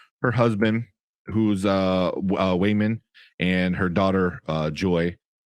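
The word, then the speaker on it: Waymond: evelyn women and uh it's wayman w-a-y-m-o-n-d not raymond wayman it's also kind of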